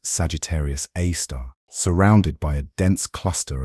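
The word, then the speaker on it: Sagittarius A*: A super massive black hole called Sagittarius A asterisk pronounced Sagittarius A star surrounded by a dense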